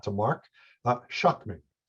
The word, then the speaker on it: Schuchman: not to mark uh shockmen shockmen so the last two ch is uh like a k so yep it's um